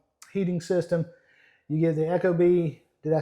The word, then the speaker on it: ecobee: Eco. Eco. Echo is spelled E-C-H-O. Oh. Echo is E-C-O. Okay. It's I mean eco. Wait, yeah, I'm Eco. correcting you. Eco is Eco. E-C-O. Okay. Eco. Echo is E-C-H-O.